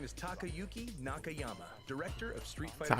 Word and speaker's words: Takayuki Nakayama: Okay, okay with the pronunciation, Lil Wayne. My name is Takayuki Nakayama, director of Street Fighter 6.